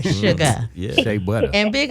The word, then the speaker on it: Sugar: like your grandmama said without the R. Sugar.